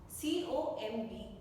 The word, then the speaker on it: comb: Next is turn off words where B is kept silent, where B is not spoken while it is written in the words. First letter is com, COMB, comb नहीं com.